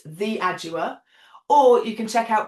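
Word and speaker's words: Theaudua: Instagram under the name the adua which is spelled uh so t h e a u d u a. So you don't pronounce my name how you spell it but it's the adua.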